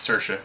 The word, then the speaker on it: Saoirse: in Florida started sir he's an Irish is Saoirse it's okay Saoirse Ronan for Little Women I